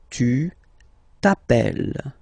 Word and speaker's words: t'appelles: Okay, remember, final S not pronounced. Tu t'appelles.